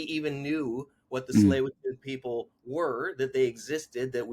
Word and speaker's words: Tsleil-Waututh: was talking about the tsleil mm, and I mispronounced it. And he's 6 years old, and he's like, "Dad, it's Tsleil-Waututh."